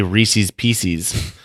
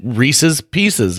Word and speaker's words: Reese's Pieces: drives me nuts is when people say Reese's pcs and I'm like first of all neither of those words are pronounced like that it's Reese's Peanut Butter Cup and it Reese's Pieces it fits well Reese's pcs not so much no so don't so